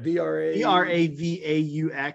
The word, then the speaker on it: Bravaux: Bravaux. It's the French play on Bravo.